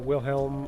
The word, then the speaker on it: Wilhelm: I'd personally kind of like to see the Willem death scream, the Wilhelm or Willem, however you want to pronounce it, the Wilhelm death scream incorporated somehow.